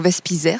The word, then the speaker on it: Wespiser: Donc, c'est un nom alsacien. Vous savez, je défends beaucoup ma région. Donc, Vespizer, ça se prononce comme ça.